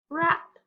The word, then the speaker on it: wrap: W-R, the silent W, the word is wrap.